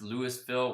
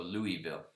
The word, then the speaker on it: Louisville: something fresh thanks man you pronounce lewisville without the s so louisville okay i always get